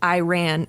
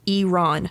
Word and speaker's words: Iran: So her first quote is, "Iran is not pronounced Iran. It's pronounced Iran.